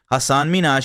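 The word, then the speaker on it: Hasan Minhaj: wasn't up for misinterpretation the real way you pronounce it is Hassan Minaj he explained as Ellen awkwardly tried to recover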